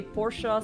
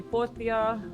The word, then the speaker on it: Porsche: errors, like, for example, almost every character pronounces Porsche differently. Oh. Some say Porsche, some say Portia, so, yeah, but it's cute, you know, it's really cute.